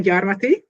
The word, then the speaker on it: Gyarmathy: My name is Gyarmathy, and I understand that my last name is somewhat unpronounceable.